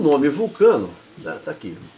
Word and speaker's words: Vulcano: o americano, o europeu, fala Volcano, eles acreditam que seja vulcão. Tá? Que quem lê um pouquinho mais vai ver que é vulcano, deveria, os latinos pronunciam assim, vai ver que é o deus do metal.